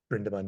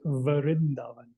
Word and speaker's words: Vrindavan: And Brindaban is a curious name then, because when you search it online, you don't get Brindaban, do you, Priyank? You get something slightly different. You get Vrindavan.